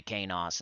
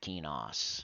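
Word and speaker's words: Qeynos: That's what I'm going to do, because you say Kanos instead of Kenos.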